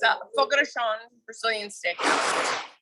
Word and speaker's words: Fogo de Chão: It's a Fogo de Chão Brazilian steakhouse. Fogo de Chão.